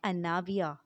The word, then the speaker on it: اناویہ: آئرہ کے معنی ہیں قابل عزت۔ نام ہے اناویہ، ANAVIA، اناویہ۔ اناویہ کے معنی ہے اعتماد۔ نام